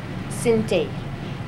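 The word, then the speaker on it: Sint: with a dance and it's called cin and it's spelled s i n t cin and it's from the northwest region of guine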